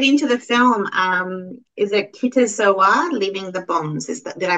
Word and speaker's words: Kite Zo A: Is it KITE ZO A, Leaving the Bones? Did I pronounce it properly? Yeah, KITE ZO A.